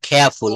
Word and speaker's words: careful: তারপর বলবো keyboard, queen, clean, kick, question, correct, critical, কেয়ারফুল না এটা খেয়াফুল, হ্যাঁ ব্রিটিশ অ্যাকসেন্টে রটা সাইলেন্ট থাকবে, খেয়াফুল, ক্লোজ, খল, খুল, ক্যাশ, কস্ট।